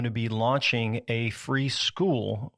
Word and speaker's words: Skool: Later this year, we are going to be launching a free school, which is spelled SKOOL.